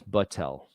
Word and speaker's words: Battelle: that debris for testing not bechtel this is buttel and bechtel is spelled differently than that it's ch by the way so